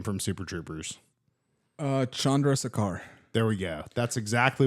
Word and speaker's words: Chandrasekhar: But pronounce this guy's name from Super Troopers. Chandrasekhar.